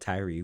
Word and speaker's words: Tyrie: It's called Tyree, which is what is short for. So it's spelled Tyrie, and it's on all streaming platforms and music.